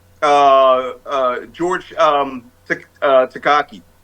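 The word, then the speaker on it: Takei: uh George um uh takak te te te rhymes with gay said he said my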